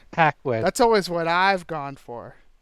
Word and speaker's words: Paquin: Paquin is also in it. Uh, I believe it's called Anna Paquin, but I could be wrong. Paquin.